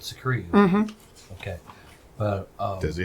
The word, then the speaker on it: Skeru: It is spelled Skeru. Secrete. Like Atreyu, but Secrete.